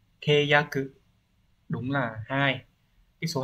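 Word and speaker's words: 契約: Hán tự là chữ khế và chữ ước, như vậy khế ước sẽ đọc là keyaku.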